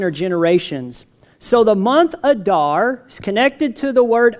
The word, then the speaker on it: Adar: This is Adar in Hebrew.